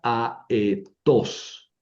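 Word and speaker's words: ἀετός: Son dos sílabas diferentes. A, E, tos. Tres sílabas.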